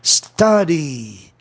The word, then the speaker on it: study: E aí os ingleses, os linguistas, preferiram que o verbo estudar tivesse essa pronúncia alta aí, né? Com som de A, né? Study, estude, né?